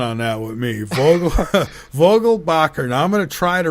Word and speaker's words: Vogelbacher: say first off that my last name is pronounced Vogal Bacher and it's a everybody gets it wrong so it's okay Vogal